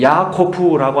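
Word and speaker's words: יעקב: 야곱은 야코프라고 하는 히브리어를 우리 발음으로 바꾼 겁니다.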